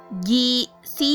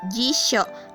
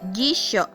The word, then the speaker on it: jisho: c dan Joe kecil maka dibacanya yaitu Jisoo bukan gizi yuk Ya tapi jisho karena huruf yuk kecil dan huruf sebelumnya adalah huruf C maka dibacanya sok jadi jisho Lalu ada Katak Q